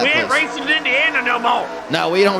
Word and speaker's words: Indiana: That's why they call it Indiana. Oh, there you go. That's makes sense. Always makes sense. All this time I've been pronouncing it Indinia, and that's my mistake.